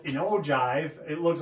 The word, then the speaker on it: ogive: So that's called an ogive. It looks like ogive, but it's ogive. It's a J pronounced the G, and then so here we